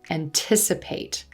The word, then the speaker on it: anticipate: in a t e if there's more than two syllables the emphasis or stress is going to fall two syllables in front of the suffix so listen closely anticipate anticipate calculate calculate calculate